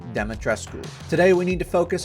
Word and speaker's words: Dimitrescu: before anyone comments I looked it up it's pronounced demetresco not demetresque the game developers got it wrong not sure how figured they would have checked that out but yes it is properly pronounced demetresco today we need to focus on sheer raw